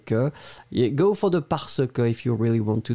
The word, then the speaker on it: parce que: Yeah, go for the parce que if you really want to do that for the professional reasons or in a formal context. Parce que, you pronounce the r somewhere, quand même.